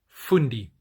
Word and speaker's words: fundi: But the way in which the word fundi, and this is the way it's pronounced also in Afrikaans, fundi, the way that it's used is it's usually used in reference to an extremely intelligent person.